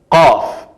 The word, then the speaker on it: ق: La letra es qaf. Hay muy gran diferencia entre la fe, la pronunciación, y la qaf en la pronunciación, claro.